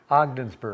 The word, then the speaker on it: Ogdensburg: And how do you pronounce the name of this town? It's really different. Ogdensburg? Ogdensburg. Ogdensburg, okay.